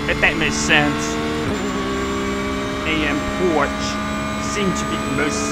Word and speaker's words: Porsche: It's not Porsche, apparently. Oh, gee. It's not Porsche, apparently. It's Porsche. I think that's how you say it now, but feel free to correct me if I'm saying it wrong.